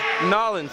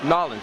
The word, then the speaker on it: New Orleans: That's pronounced Nolens, Louisiana. Oh, I'm sorry. Nolens.